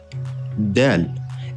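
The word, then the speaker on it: دال: Dal. It's pronounced from the tip of the tongue goes to the upper incisor. Dal.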